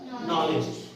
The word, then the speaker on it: knowledge: नॉलेज। देखिए KNOWLEDGE, है ना। अब इसमें देखिए, इसमें फिर हमने डी का प्रोनाउंसिएशन नहीं करा।